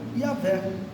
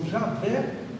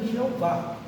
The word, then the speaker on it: Yahvé: Então Deus se apresentou com esse nome, que se pronuncia em hebraico Yahvé, ou algumas traduções, né, que elas utilizam Javé ou ainda Jeová. Jeová é uma transliteração errada, é melhor não usar, mas alguns utilizam, até as nossas Bíblias utilizam.